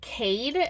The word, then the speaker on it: Chade: The assassin's name, it's Chade. I think you would pronounce it Cade. That's how I'm pronouncing it in my mind.